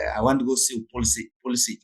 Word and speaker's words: Pulisic: I want to go see Pulisic. I don't know how to pronounce the name. Yeah, no, Playing. you're saying it right.